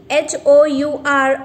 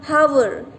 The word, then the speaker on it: hour: as you can see h o u r hour we cannot say here hover here h will be silent for such words we